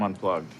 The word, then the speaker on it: unplugged: Link the g sound with the d.